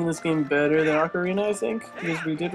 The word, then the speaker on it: Ocarina: I used to pronounce Ocarina Ocarnia, because I was a retard.